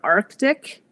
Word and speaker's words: Arctic: But a great example of how actually spelling misled people into adopting an entirely new pronunciation is in the word Arctic. Which actually did not have the C, the first C historically, but because it was spelled in the 1800s with a C, it became pronounced that way because people thought that was the correct way to pronounce it.